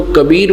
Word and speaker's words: कबीर: इसी प्रकार जहां वेदों में कवि शब्द लिखा है कवी कबीर कबीर तो हम उसको कबीर बोलते हैं। कबीर ब बोलते हैं ब को। इतना ही बोलने का उच्चारण का अंतर है।